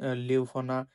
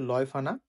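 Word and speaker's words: Leuphana: মে আছে দুটো university university of বন এবং লিওফানা লয়ফানা একচুয়ালি এটার উচ্চারণ হচ্ছে লয়ফানা লয়ফানা ইউনিভার্সিটি লিওনেবুর এবং এরপরে থার্টি ফার্স্ট অফ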